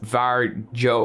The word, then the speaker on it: Varjo: second coffee today so we're looking at the vagio vr 3 or var joe or guys it's varjo okay i'm calling it varjo and that's it it